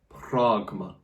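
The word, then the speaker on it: πρᾶγμα: So it'll be pronounced like R rather than A. Pragma.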